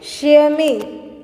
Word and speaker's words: chamois: इसको प्रोनाउंस हम किस तरह से करेंगे? शेमी. ओके, जिसका मतलब होता है a type of dear. Okay, और इसको प्रोनाउंस किस तरह से करेंगे हम? शेमी. Okay, शेमी.